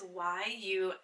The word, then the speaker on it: Yummi: So Yumi or Yummy, I'm not sure how you say it. It's Yummi.